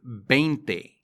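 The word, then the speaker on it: veinte: kinsei not quincy kinsey the number 20 is bente these in spanish are almost indistinguishable from the letter b in spanish so you don't say vente you say bente says are actually just the words dies and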